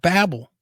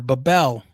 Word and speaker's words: Babel: And it brings to mind the whole story of the Tower of Babel, or Babel, depending on how you pronounce it, whatever region you're in, where they were trying to build these towers to the heavens.